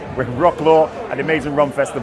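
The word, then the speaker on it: Wrocław: in a rock load I can't pronounce it properly because I don't speak Polish but we're in Wroclaw Wroclaw that's it with Wroclaw an amazing rum fest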